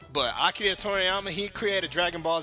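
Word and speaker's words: 鳥山明: know Akida Toriyama yeah I'm pronouncing his name with an accent because uh snowman will get on my ass if I don't but akid torama he created Dragon Ball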